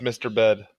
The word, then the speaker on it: Misturbed: His name is Misturbed, like Disturbed with an M, but it's pronounced Mr. Bed.